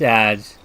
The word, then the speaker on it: adze: That is pronounced adze.